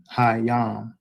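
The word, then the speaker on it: הים: So it's already problematic your pronunciation for God hayam at the ending because that was that's the word for c. You're not saying god when you say alahayam. That hayam is literally how you say the sea.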